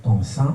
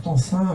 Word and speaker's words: Tencin: Et aujourd'hui, j'ai l'honneur et le grand plaisir de recevoir l'autrice et l'éditrice Claire Tansin. C'est comme ça qu'elle se prononce, j'espère.